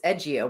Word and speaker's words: Edgeio: Don't read the dot out loud? Correct. Well, the the the logo is Edgeio without a dot.